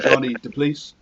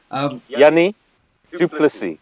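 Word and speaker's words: Jannie du Plessis: John is going to kill me now for pronunciations, but John Smith, obviously legend, Bismarck and Johnny DePleece in that front row. Sorry, Bismarck and Johnny DePleece. Anyway, Yanni Duplessis.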